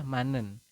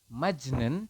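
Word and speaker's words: 만넨: man nah seperti itu anda membacanya adalah manen ya Latinnya adalah man Nen seperti itu teman-teman Jadi anda membacanya Bukan majnen tapi manen seperti itu bisa dipahami ya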